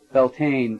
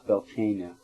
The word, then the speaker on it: Beltane: It lasts till I'm pretty sure it lasts till Beltane. How do you spell that? Beltane is how it's said, I say it in American, but it's Beltane in, Celtic.